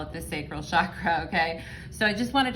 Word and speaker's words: chakra: So finally, a little bit about the sacral chakra, and I am aware that it's pronounced chakra, not chakra.